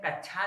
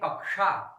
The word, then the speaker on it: कक्षा: तो एक अगर आप कहते हैं कच्छा तो गलत कहते हैं, कहिए कक्षा। क्या कहिए कक्षा, क्योंकि इसमें का उच्चारण हो रहा है।